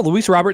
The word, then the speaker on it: Luis Robert: uh crochet Robert Jr I call him Robert Jr no Luis Robert that's how you say it oh it is it's not Rober no okay sorry I